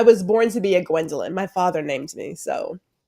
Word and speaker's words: Gwendolyn: gwindel R I go by because it makes it easy I know it's three syllables I love my name but if three syllables is too much get out is fine I do not answer to Gwen right like it's just